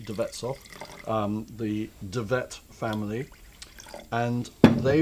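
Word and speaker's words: De Wetshof: by Tibet soft winery spelt with a w but pronounced with a V the bets off the Javits family and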